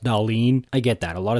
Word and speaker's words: Dahlin: I think last year it was lose hard for Bedard, lose for Hughes, fall in for Dahlin, even though it's pronounced Dahlin.